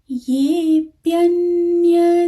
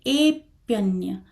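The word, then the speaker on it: येऽप्यन्य: और दूसरी बात, कई लोग ये को ए बोलते हैं, तो जैसे ये प्यन्य देवता लिखा है तो उसको बोलेंगे ए प्यन्य, तो उसको ए नहीं बोलना है।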